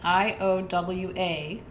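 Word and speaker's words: Iowaite: It's Iowa, like the state. Iowa-ite. Iowa-ite. Iowite.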